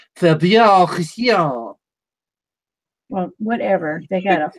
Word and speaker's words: Faber: It's pronounced Faber.